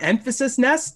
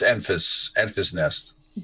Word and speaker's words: Enfys Nest: Yeah, but yeah, no, it's Enfys nest.